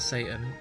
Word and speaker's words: seitan: you probably know about Satan about it that's how you pronounce it Satan say that I